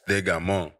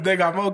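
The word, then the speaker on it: Des Gamins: English it looks like Descamis, but it's in French it's pronounced Degamon.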